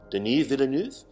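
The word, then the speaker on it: Denis Villeneuve: not least most importantly danny villeneuve denise villeneuve i have to say it like a french canadian because that is what he is what a filmography on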